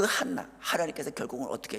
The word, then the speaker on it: 한나: 자, 부족함을 느껴서 하나님께 간구하고 은혜를 입었던 그 한나 하나님께서 결국은 어떻게 해 주셨어요? 한나라고 하는 이름은요. 지금까지도 그 한나 히브리어로는 어 크바음에 가까운하 하는 그 크리 CH 발음 같 비슷하게 합니다. 한나라고 표현을 하고요.